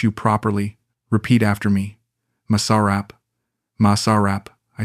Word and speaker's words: masarap: let me teach you properly repeat after me Masarap Masarap I said carefully better she said standing